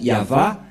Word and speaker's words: Yahvah: dire non c'est pourquoi il est écrit ici yava et son nom c'est Yav son nom et